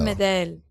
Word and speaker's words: Medel: Is that Medel? Medel. It's Medel. Medel. That's beautiful. Medel. Also, I'm just taking it.